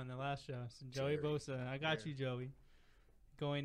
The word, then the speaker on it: Joey Bosa: I said Joey Bosa because I remember I said his name wrong in the last show. So Joey Bosa.